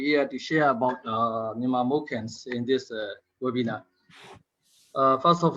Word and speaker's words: Moken: Actually, in Myanmar, do you know that Moken we call Moken and also Salo? So I'm going to use Moken, Salo people, Moken people. They prefer to pronounce as Moken, so I'll use Moken in my presentation.